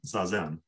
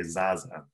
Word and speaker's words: zazen: refinements for example is i'm starting to try to pronounce zazen as katagiri roshi pronounced it so it's in in the early recordings i say zaza and now i'm trying